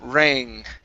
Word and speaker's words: rang: And the last one here is the bell rang. Okay, so the A sound in rang is a long A. Rang.